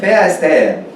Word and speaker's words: Verstehen: Verstehen. Sí. A ver si lo logra. Busquen. Recuerden que el sonido F en alemán es con V, como B corta.